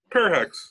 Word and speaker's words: Perhacs: Some of his current producer projects include folk legend Linda Perhacs. Did I pronounce that last name right? Perhacs. It's cool.